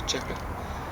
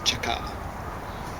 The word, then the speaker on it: Cheka: combating counter-revolution and sabotage you will mispronounce it i'm sure out there as the cheka it's chaka i'm still mispronouncing it but there you go